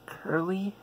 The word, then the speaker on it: Curley: the guardians of time series by by Marianne Curley that's how you pronounce her last name so it tells a